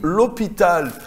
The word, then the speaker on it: l'hôpital: qui n'est pas francophone on lui dit l'hôpital l'hôpital il va écrire elle au pita l il va pas savoir qu'il y a un apostrophe et que il y a un h muet entre les deux donc on n'écrit pas